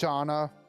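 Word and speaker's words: Shana: Okay, I have to run after Shayna. Her name is called. It's pronounced Shauna.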